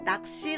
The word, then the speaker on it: 낚시: Fishing in Korean is called 낚시. We write 낚시 like this, but the pronunciation is 낚시.